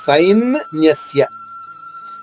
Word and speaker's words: సైన్యస్య: సై దీర్ఘాక్షరము, న్యస్య హ్రస్వాక్షరం. సై పైన ఆఘాతం తీసుకుంటూ న్యాలోని నా ద్విత్వం చేసుకుంటూ అంటే 2 నాలు అవుతుంది. సైన్ న్యస్య.